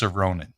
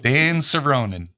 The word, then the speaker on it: Soronen: that's why I'm running and the name is pronounced cerin cerin Dan cerin Dan cerin remember when you go check that